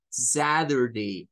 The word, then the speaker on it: Saturday: mismo que decir Z no suena la d y puede ser que escuche a otros que lo digan como Saturday Saturday Saturday como rur satur Saturday son dos pronunciaciones para ese día y es Quizás El